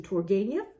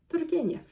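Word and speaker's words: Turgenev: use the English pronunciation Turgeniev, even though I know it's wrong? Or should I use the correct pronunciation in Russian, Turgeniev?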